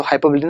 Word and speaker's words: hyperbole: अब हम स्टार्ट करेंगे क्या, अब हम पढ़ेंगे हाइपरबोली। हाइपरबोली पढ़ो चाहे हाइपरबोल पढ़ो, लेकिन इसका जो रियल प्रोनाउंसिएशन होता है वो हाइपरबोली होता है।